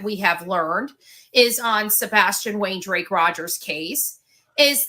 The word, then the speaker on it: Sebastian: So we are saying it wrong when we say Sebastian. It's supposed to be like the movie says it, but whatever.